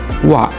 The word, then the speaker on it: は: akan belajar mengenai partikel Wak partikel ini biasa kita temui di awal-awal belajar bahasa Jepang ya tapi apa sih sebenarnya partikel uang partikel wa ini ditulis dengan huruf Hiragana hak tetapi bacanya Wakwaw toke apa sih sebenarnya